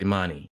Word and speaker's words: Imani: I'm sorry, but I came back and I found someone from her country to pronounce her name, Mm-hmm. and it's pronounced Imani.